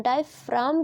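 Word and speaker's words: diaphragm: दाई फ्रॉम ठीक है इसको डिफे डाइव फ्रॉम कहते हैं इसको डिफे फ्रॉग नहीं कहते ओके जी इसमें साइलेंट होता है इसे आप ध्यान रखना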